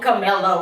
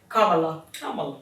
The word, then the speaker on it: Kamala: We're gonna call her Camilla. We mess her name up every time. Kamala.